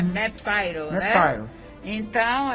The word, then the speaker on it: MAP-Fire: Então, olha, eu quero dizer que a palavra para vocês encontrarem mais informações sobre esse projeto é MAPFIRE. É porque a gente pronuncia em inglês MapFire, tá bom?